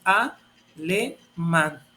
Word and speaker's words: alemán: Es alemán. ¿Y dónde cayó el acento? El acento cayó en el cuadro de agudas. Entonces, ¿qué quiere decir? Que alemán es una palabra aguda, porque ahí cayó el acento en la última sílaba.